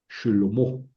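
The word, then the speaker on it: שְׁלֹמֹה: En en hebreo es Shelomo.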